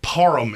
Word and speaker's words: Parham: the way donald parham it really irritates me how people say his name like i don't feel like param is that weird of a name that people should be that up so routinely mm-hmm oh he has